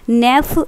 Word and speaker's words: Nef: एक name reaction है, इसको हम बोलते हैं नेफ reaction. This is your नेफ reaction. नेफ reaction क्या मतलब क्या है, NEF, ये स्पेलिंग है नेफ रिएक्शन।